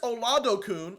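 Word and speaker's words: Oladokun: next we have Chris ol Adon I looked it up that's how you pronounce it he originally went to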